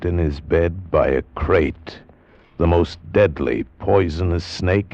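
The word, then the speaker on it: krait: of a snake a crate is first the crate you spell it k r AI T they're in India the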